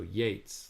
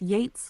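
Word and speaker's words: Yeats: to help you um you are pronouncing ye's name like the word beats um but I I was hoping that you would start pronouncing it like the word Gates so Yates like rhymes with Gates can you pronounce it like that from now on got it I'll pronounce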